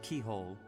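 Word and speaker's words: Cichol: I'm going to quickly talk to him and get the pronunciation again. Inside the cathedral, Saint Indek, Saint Macule, Saint Keyhole. Saints. Now that you... Yeah, so Saint Keyhole, who we'll get to in a bit.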